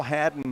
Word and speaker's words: Haddon: Philip Palmertree and Hal Haddon here. Haddon rhymes with Madden, so I may say Madden and mean Haddon sometime, or vice versa.